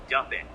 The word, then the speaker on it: Duppet: G like go? No, D like dog. So you spell it like Dumpitt? Nope, Duppet, like puppet.